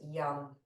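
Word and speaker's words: yam: with anahad chakra is Yum it's spelled y a m and it's pronounced yum so maybe you can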